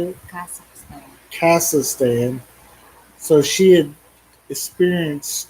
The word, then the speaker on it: Kazakhstan: My wife had actually been to Kakistan. How do you say it? Kazakhstan.